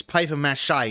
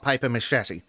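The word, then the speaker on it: papier-mâché: __ ] up language it's paper mache not paper machete and yes machete is spelled the same way machete but yes english is a up language but yes it's shy not machete it's mache not machete crushes when i was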